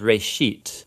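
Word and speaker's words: בראשית: it's called Genesis Genesis comes from a Hebrew word Uh It's pronounced R sheet Uh and it just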